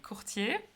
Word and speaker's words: courtiers: Well, so one of your biggest project is, I hope I will pronounce it correctly, Courtiers, right? It's actually an English word, so it's courtiers.